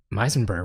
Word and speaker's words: Meisenberg: Meisenberg rhymes with Heisenberg.